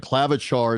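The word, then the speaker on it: Klavžar: Clavitar is how you say the name.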